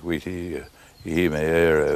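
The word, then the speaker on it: Witi Ihimaera: And another promising sign is the rise of the Maori self-confidence in writing by chaps like Witi Ihimeera, if that is the correct way of pronouncing it, and not many another.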